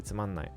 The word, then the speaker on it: つまんない: really need to say, you don't need to pronounce that na. You can just say tsumanai.